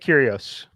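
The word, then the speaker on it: Kyrgios: our recap for today m squared is on kyrgyos is that how you pronounce it mike did i have it correct yeah i'm on mute over here but yeah nick curios right there we go all right money line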